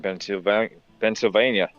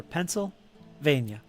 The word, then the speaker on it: Pennsylvania: In Pennsylvania. When I say it sounds like Pennsylvania, how do you say it? Huh? Pennsylvania? Pennsylvania. Pennsylvania. Just say Penn State. Penn State there. There it goes. It's like pencil.